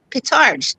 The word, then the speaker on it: Pitarch: It's Pitarch, just like it's spelled.